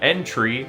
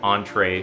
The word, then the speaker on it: End Tree: Then you go up to the little stone tablet by the tree known as the end tree, which I pronounced as entree for 10 years.